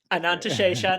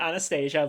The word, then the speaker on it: Ananta Shesha: Ananta Shesha, not Anastasia, but yes. I always can spell it right. I can never say it right. I gave up on that a while ago.